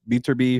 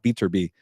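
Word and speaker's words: Beterbiev: or maybe uh uh beer be from Russia those guys need to fight by the way a Bibble and beater be I gotta say his name properly my bad uh beater be but uh yeah obviously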